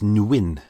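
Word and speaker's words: Nguyen: it's spelled n-g-u-y-e-n now the majority of people say it's nguin so should we uh who Yin the win I hope I got that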